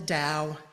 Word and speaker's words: Tao: Those words, Tao and Day, can either be spelled T-A-O or T-E, or they can be spelled D-A-O-D-E, both pronounced to the Western ear with a T sound.